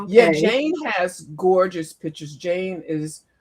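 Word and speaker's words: Jayne: haven't seen Jane spelled J A Y N E. What I say to people is, well, you wouldn't spell Wayne W, right? The name Wayne. So, my name spelled like Wayne.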